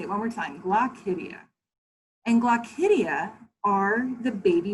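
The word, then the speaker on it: glochidia: fun word here uh and it it is pronounced glossidia i'm going to say it one more time glock hydia and glaucidia are the baby muscles that they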